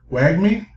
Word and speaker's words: wagmi: the correct way but is it wag me why me wag me yeah right okay wagmi once again